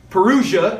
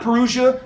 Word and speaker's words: Parousia: Some people pronounce this word a little bit differently. Parousia is how I'm going to use that one.